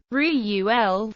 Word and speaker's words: Reuel: Reuel, with the first syllable strong accented, is nearer to the true pronunciation.